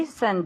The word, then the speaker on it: isn't: No, he isn't married to Jane, right? Jane. No, she isn't married to John. Okay, good. Isn't. La T. Okay? Isn't.